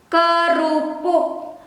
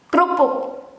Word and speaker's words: kerupuk: The Dutch pronunciation kerupuk, kerupuk. Indonesian, the formal one with e, or in English i. In Indonesian e, kerupuk, kerupuk. Or sometimes slang pronunciation and slang written, kerupuk, kerupuk without the e, or in English i.